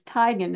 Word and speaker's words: Teigen: I always say your name wrong, but it's Teigen, isn't it? Teigen? Yep, Teigen. Teigen. If you're in Norway, it's Teigen, but here it's Teigen.